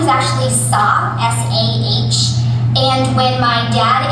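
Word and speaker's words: Sah: great favorite parents their last name is actually sa s-a-h and when my dad immigrated here to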